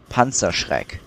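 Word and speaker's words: Panzerschreck: I think that's a Panzer Shrek, right? Also, I'm German. I can tell you how to actually pronounce it. Panzer Shrek is actually pronounced Panzer Shrek.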